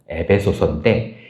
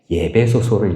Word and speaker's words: 에베소: 여러분 발음을 잘하셔야 돼요. 이걸 많은 집사님들이 잘못 읽으세요. 에베소인데 예배소를 읽으시는 분들이 계세요. 이건 예배를 향한 책이기 때문에 예배소다 이게 아니고요.